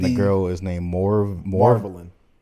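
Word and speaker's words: Marvalyn: the girl is named Marvelin. Like marvelous, Marvelin. It's spelled like a Elder Scrolls vampire.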